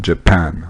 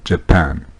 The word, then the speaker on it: Japan: pluriel voilà le reste la prononciation du mot japon japan accentue sa deuxième syllabe japan beaucoup de pompiers aux